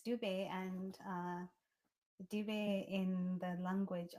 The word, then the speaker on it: Dube: It's Dube, and Dube in the language of Isindebele in Zimbabwe means zebra.